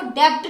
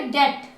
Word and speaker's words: debt: जैसे आप लिख रहे हो DEBT, तो आप इसको डेप्ट नहीं बोलोगे, आप इसको बोलोगे डेट, बी साइलेंट रहेगा।